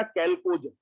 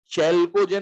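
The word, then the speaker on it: chalcogen: Group 16 का नाम क्या दिया गया बेटा, कैल्कोजन, है ना। एच साइलेंट है क्या, चैल्कोजन नहीं बोलते हैं इसको, कैल्कोजन बोलते हैं।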